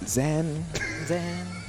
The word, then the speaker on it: Zain: You were saying Zain on commentary, I heard. We were saying Zain on commentary. Yeah, that is the real pronunciation of mine.